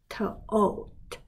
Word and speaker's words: taught: launch launch pause pause tote tote 这个 gh 不发音 ho ho because OK